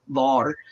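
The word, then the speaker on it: Vör: would say VAR uh it's spelled v-o-r but there's two dots above the O so it's an a u sound VAR and she is the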